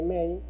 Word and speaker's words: main: Muy bien, entonces vamos a colocar la función principal int, que indica que es un entero, la palabra my, que se pronuncia may, int main, y seguido colocamos paréntesis, abrimos y cerramos paréntesis.